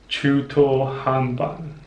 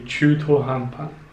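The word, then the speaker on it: 中途半端: Before I looked up the dictionary online, I used to pronounce it Chuto Hanban, but in fact I was wrong again. It should be Chuto Hanpan.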